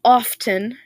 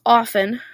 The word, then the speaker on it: often: Many people pronounce it as often, but that's actually incorrect. It's often.